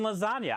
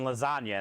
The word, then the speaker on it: lasagna: and lasagna why is there a g and lasagna I don't know why is there a j